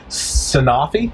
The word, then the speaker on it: Sanofi: Sanofi is how you say it?